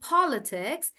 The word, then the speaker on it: politics: So when a word is small, like politics, I'm stressing on paw and I'm saying politics.